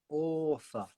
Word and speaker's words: author: Author. So again, author. Author. So it's an sound, even though it's an OR, author. It's pronounced like an ER.